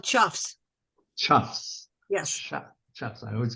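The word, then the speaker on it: choughs: They were consuming, one of you birders out there, tell me the pronunciation. Cause? Birds, what? They're called chuffs.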